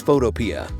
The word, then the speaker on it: Photopea: Many people pronounce it Photopea. The developer says it's Photopea, so that's how I'll pronounce it.